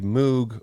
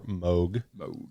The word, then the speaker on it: Moog: I myself have a Moog or Moog, as they call them in the United States. I prefer the British pronunciation because of the Beatles.